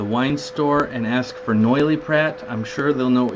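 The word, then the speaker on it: Noilly Prat: go to the wine store and ask for noily Pratt I'm sure they'll know what you're talking about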